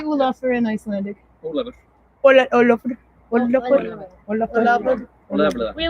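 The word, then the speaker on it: Ólafur: Olafur.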